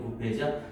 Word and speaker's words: buffet: 자, 원래 이 단어 BUFFET를 써서 이게 발음이 두 개입니다. 부페이라는 형태로 우리가 사용하는 부페할 때 그 부페죠.